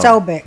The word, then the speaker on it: Posobiec: tonight uh Jack pesobic did I say it right no so big is that right well they're both rights they're both right is the way we say it in the like like in American English but in Polish it's and